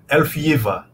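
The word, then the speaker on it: Ælfgyva: Você possa ajudar a gente, como é que é a pronúncia correta desse nome? Essa já é a tradução, né? Elfiva.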